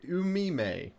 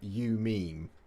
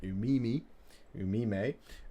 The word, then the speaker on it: Umime: So, moving on now, we have the Knight of Zen with Storm Talon Gunship Umime. I'm guessing it's pronounced that way rather than you meme. Rather than like you meme, bro.